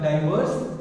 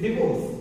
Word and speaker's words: divorce: It is not like divorce, it is divorce.